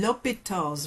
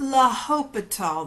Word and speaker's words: L'Hôpital: Today we're going to be looking at finding limits using L'Hôpital's rule. It's not L Hôpital, the H is silent, L'Hôpital.